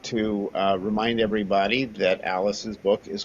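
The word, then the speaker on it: Alys: And uh and Alice, people always get my name wrong. It's a L Y. You've spelled it right there. So, don't try and look up Alice like is in Alice in Wonderland. You won't find the book.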